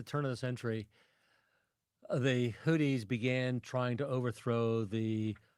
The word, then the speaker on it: Houthis: You were telling me about one of the most dangerous situations, the Houthis. Do I pronounce that correctly? Correct. Houthis. All right. Would you please? It's not Hooters, it's Houthis.